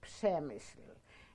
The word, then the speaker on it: Przemyśl: Poland we stopped was in a town called Przemyśl, and that's spelled P-R-Z-E-M S with a sort of umlaut in L, also with a kind of a wave over it in Przemyśl.